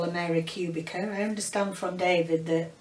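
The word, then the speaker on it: Kubica: Robert Cubica. That's how they pronounce it. It's Polish.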